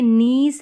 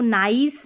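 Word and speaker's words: niece: अब देखें यहां पर जैसे नीस है इसको नाइस नहीं पढ़ते नीस है आई के बाद में ई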